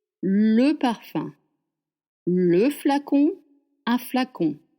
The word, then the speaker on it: flacon: Le parfum le flacon un flacon flacon fla which is a very open mouth fl con con is a semi together like you make the sound flacon le flacon de parfum